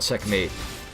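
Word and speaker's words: checkm8: called by the way it's called checkmate um but it's spelled M8 because they're edgy and cool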